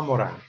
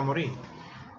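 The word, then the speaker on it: Morin: La pregunta, ¿quién le leyeron a Morán? Morán, que se pronuncia. Sí, en francés, sí. Él dice muchas veces, él hace que le diga Morín. Pero él queda Morán.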